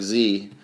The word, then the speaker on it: xe: pronunciation of it yeah it's pronounced just like Z only it's x e and then you could